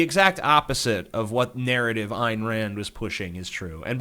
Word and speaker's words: Ayn Rand: So the exact opposite of what narrative Ayn Rand was pushing is true. And by the way, I hate when people fucking call her Anne Rand. If you can't figure out that it's not pronounced Anne, you're a fucking idiot.